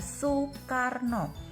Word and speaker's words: Soekarno: Soe ini dibaca, kalau zaman sekarang dibacanya su. Nah, ini ejaan lama, tulisannya oe. Nah, Soekarno ini dibaca Soekarno.